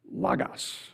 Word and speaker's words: logos: spelling but different pronunciation Lagos a short o it's a Greek word